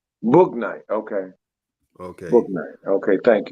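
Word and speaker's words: Bouknight: He said it's pronounced Book Night. Book Night.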